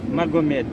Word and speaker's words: Magomed: Je m'appelle monsieur Magomed. Ça s'écrit comment?